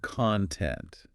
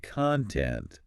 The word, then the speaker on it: content: Well, take the word content. If I say content, stressing the first syllable. That's like the stuff inside something, the material. Right. But if I say content, stressing the second. That means happy, satisfied.